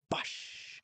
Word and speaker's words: Bosch: You guys say it like that. Bosch. Reminds me, I think it was a Bush beer commercial actually when they'd open up the beer kind of go Bush but this is Bosch.